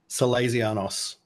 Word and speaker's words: Salezianos: My first question is, how do I pronounce the name of your band? Cazanos.